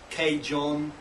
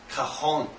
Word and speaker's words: cajon: come from it's not a lot of people pronounced as cage on four different things kaeun different things like that but really the Spanish pronunciation is kahan so let's how you pronounce it so car